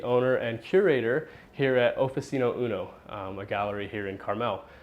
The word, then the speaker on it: Oficino Uno: so why don't you tell us more about oficino Uno am I pronouncing that right first of all yes you